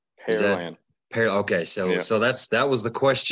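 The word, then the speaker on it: Pearland: a lot of people a lot of people use Pearl like like the jewelry but it's pair like a like the fruit gotcha yes sir well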